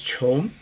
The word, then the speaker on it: 窮: The opposite, but the exact opposite is this character pronounced as chong.